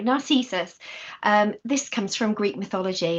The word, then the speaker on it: Narcissus: Of course, this is this is Narcissus, and I'm never going to say it right, Narcissus.